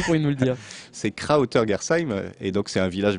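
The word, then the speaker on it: Krautergersheim: C'est Krauter-Gersheim, et donc c'est un village bien réel qui est mon village d'origine en Alsace.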